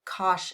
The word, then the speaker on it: cosh: cosine of X now we pronounce these Cinch of X and cosh of x sense of X